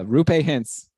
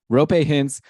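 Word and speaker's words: Roope Hintz: one more algeri uh rupay hints I should say it properly rope hints is back with Dallas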